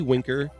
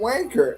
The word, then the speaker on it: Winker: Andrew's team got Jesse Winker and Abraham Toro oh worker why are you saying wanker Andrew I thought it was Winter the whole time don't stay around the